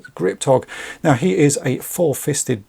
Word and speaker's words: Ggripptogg: his name right, because there's a double G, a double P, and then a double G in it. But to me, that looks like it probably should be pronounced as Ggripptogg.